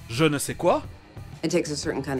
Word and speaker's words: je ne sais quoi: Et on trouvera le son je, c'est-à-dire sans le son de devant, dans des mots d'autres langues, comme l'expression française je ne sais quoi, It takes a certain